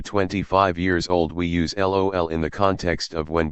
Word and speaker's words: LOL: We also don't read / say the letters L, O and L, but we just pronounce LOL as in lollipop.